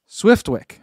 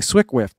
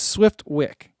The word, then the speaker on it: Swiftwick: and you're Calvin saying swick whift that's not it it's Swift Wick I've been saying it wrong Swift Wick do you